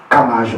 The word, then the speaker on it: KMAJ: Kamaj, on prononce, d'accord?